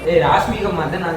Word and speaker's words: ராஷ்மிகா மந்தனா: உங்களை ராஷ்மிகா மாதமா இருப்பாங்க போல. அவங்க ராஷ்மிகா மந்தனா பேர் கூட ப்ரொனவுன்ஸ் பண்ண தெரியல. ராஷ்மிகா மந்தனா தான் சொல்றேன்.